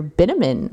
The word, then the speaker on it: Bitterman: Sylvia shows up with her man friend, Mr. Bitterman. Rhymes with cinnamon.